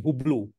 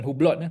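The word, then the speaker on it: Hublot: iklan kat KL ni hublo kan ada satu jam tu brand dia hublo HB lot silent t bukan hubblot hubblo hubblo ni jam yang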